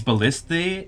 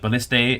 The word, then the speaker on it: ballista: It's technically more correct to say balliste like ballista ballista. Uh but you can say ballistas if you prefer as well. This is more correct from English point of view.